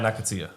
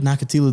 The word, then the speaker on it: Nakathila: Then Jeremiah Nakathila. That was the opponent. Yeah. I feel like that does not say that. Oh, his game plan was to H knock. is silent.